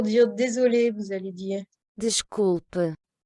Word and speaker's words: desculpe: Desculpe. Donc avec le S qui va se prononcer ch, parce qu'il est devant une consonne.